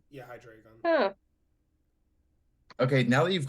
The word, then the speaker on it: Hydreigon: Hydra dragon? Close. Yeah, Okay, I if think I'm that's close. pronouncing Give it this to her. right, I think, yeah, if I pronounce this right, it's Hydreigon. Yeah, Hydreigon.